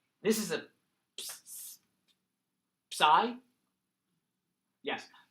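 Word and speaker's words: psi: you and it's an X this is a sigh yes sigh think Trident I don't know how else to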